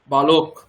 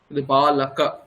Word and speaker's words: বালক: বাংলাতে রামও বা ওই যে ব্যাপারটা সবসময় একটা ওকার ওকার ভাব রয়েছে আমাদের মধ্যে বালক বালাকা বালক নয় এখানে কোন ওকার নেই কিন্তু আমরা ওকার উচ্চারণ